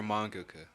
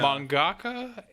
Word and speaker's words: mangaka: Support your mangaka.